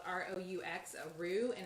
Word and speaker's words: roux: and basically what you're doing is making a roux now if you don't have a crock pot like mine so this is like a soup i think it's spelled r-o-u-x a roux and it's the flour base that